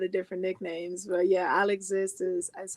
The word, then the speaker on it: Al'Exist: exist yeah well you know some people say al exists yeah but this isle exists you tell them what it's about there it's true i go by a lot of different nicknames but yeah i'll exist is that's how i pronounce it um and